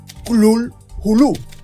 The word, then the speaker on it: Cthulhu: amigo d W rimel el sonido real lo más que los órganos humanos podrían imitarlo o las letras humanas que podrían registrarlo sería algo así como cl hulu pronunciando la primera sílaba